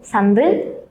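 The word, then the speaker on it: 三分: Angka 1, 3, 6, 8 dan 10. Jadi dibacanya ipen samben, dopun, hapen, dan jupun ya minasang.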